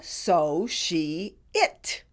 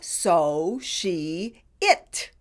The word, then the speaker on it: associate: vowel I it so all the syllables put together are pronounced uh so she it you do it ah so she it remember you can also pronounce the C as an S so the word can be pronounced ah so see it you do it ah